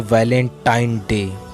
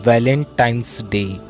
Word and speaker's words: Valentine's Day: जब आप वैलेंटाइन डे के नाम पर गौर करें, इसे जो आम कहा जाता है वो है वैलेंटाइन डे, लेकिन हकीकत में जो इसका प्रोनाउंसिएशन है वो है वैलेंटाइंस डे, यानी वैलेंटाइन वाला दिन।